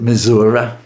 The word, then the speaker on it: Missouri: Louis, Missouri, although I'm told older residents, pronounce it "Mizur-uh".